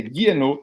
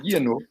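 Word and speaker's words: Guénon: Esse Gui, a gente esquece, lê como se fosse esse Y aí, é Guienot, vira Guienot. E o Q você esquece também, não pronuncia, é Guienot.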